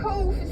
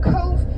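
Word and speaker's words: Cobh: Cove now Cove c-o-p-h a lot of people ask about the pronunciation of Cove B Leach together in Gaelic make the V sound because the letter is x v w x y and z don't exist in Gaelic so therefore the VH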